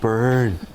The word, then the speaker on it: Byrne: And you've got to say his name in the Irish way because he's Rob Byrne.